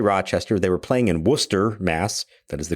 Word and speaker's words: Worcester: They were playing in Worcester, Mass. That is the correct pronunciation of it for those of you who may have forgotten.